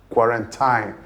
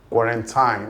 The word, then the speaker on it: quarantine: People majorly pronounce it as quarantine. Quarantine. Now, two things are wrong with that pronunciation. First is the stress placement and second is the last vowel, the pronunciation of the last vowel. The pronunciation of that word is quarantine, quarantine. So, the stress is on the first syllable and the last vowel is a long e sound, quarantine, not quarantine or